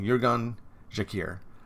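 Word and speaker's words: Uğurcan Çakır: Jurgen Jakir. There we go. Jurgen Jakir. That's how you pronounce it in Turkish, if I remember correctly.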